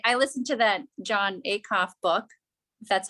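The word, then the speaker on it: Acuff: them more i i listen to that john a cough book that's how you say his name that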